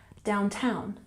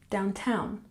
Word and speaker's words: downtown: coffee shop downtown here we have the primary stress on the second syllable downtown downtown good and 25 fill